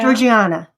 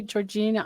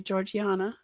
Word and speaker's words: Georgiana: name Georgina Georgiana yeah Georgiana and some people say Georgina I mean in England they would say Georgiana oh I love it